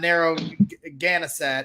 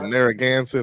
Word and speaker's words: Narragansett: up by midway on narrow ganasat if i'm uh butchering that that street name so um you know narragansett i think yeah narragan said thank